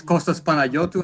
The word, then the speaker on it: Kostas Panagiotou: for inviting me and by the way you pronounced it very beautiful it's all my compliment so yes costas panayoto i'm originally greek as you can probably guess